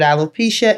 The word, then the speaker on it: alopecia: So this community of alopecia, that's how you say it?